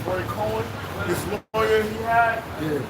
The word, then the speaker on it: Roy Cohn: Roy, I call him Roy Cohn. Roy Cohen, this lawyer he had, he was grooming him when he was younger.